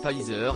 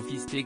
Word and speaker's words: Pfizer: En effet, celui-ci est nommé Pfizer et non fisté comme a pu l'indiquer le maire de Perpignan.